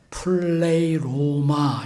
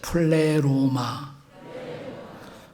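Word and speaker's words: pleroma: 근데 채운다는 것은 플레이로마 이렇게 말합니다. 다 같이 플레로마. 뭐 간단히 플레로 이렇게 하기도 하지만 플레이로마 이게 충만이에요.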